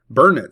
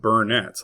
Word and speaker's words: Burnet: Burnet, Texas. It is not pronounced Burnett like how it is spelled.